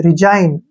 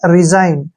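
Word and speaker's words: resign: आ गया है तो जी का उच्चारण हमने नहीं करना है आरी का जो उच्चारण है वो री करेंगे और यहां पर एस का उच्चारण ज करेंगे और आई का उच्चारण आई के रूप में करेंगे और एन को न पढ़ेंगे रिजाइन इस तरीके से हमने ने पढ़ना है रिजाइन असाइन बिनाइन डिजाइन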